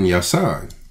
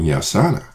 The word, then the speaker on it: Yosanna: Yeah, well, like I said, we've been using Yasan. Right. But that's the Yiddish word. Mm-hmm. It doesn't account for all three syllables. So, whereas before we've used Yasan, we should be using Yosanna.